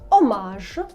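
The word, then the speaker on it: hommage: звикнути а саме те що літера H ніколи не читається особливо якщо вона одна-однісінька на початку слова давайте подивимось ом Ех о г омаж і мені йти ом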